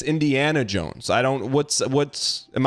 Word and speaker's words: Indiana Jones: and you're like yeah this is Indian Jones I'm like I don't get that it's Indiana Jones I don't what's what's